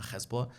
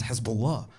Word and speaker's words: Hezbollah: I'm like, "It's not Hezbollah, it's Hezbollah, Hezbollah."